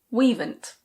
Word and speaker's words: we'ven't: We have not becomes we'ven't.